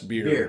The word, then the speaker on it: Bier: Is it Bier? Beer. Fest beer. It's got an I in it though. Yeah, Yep. it's pronounced the same way.